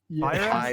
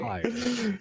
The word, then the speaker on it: Pyre: Pyra?